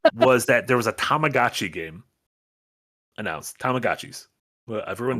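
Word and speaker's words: Tamagotchi: the the keychain thing yeah the guy kept pronouncing tag GOI oh no I'm like my thing he kept saying tomag GOI no I'm not I'm not thinking of tomadachi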